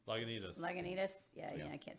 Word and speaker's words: Lagunitas: Laguntas? How do you say that one? Lagunitas.